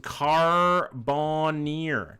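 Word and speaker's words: Carbonear: It's pronounced Carbonir.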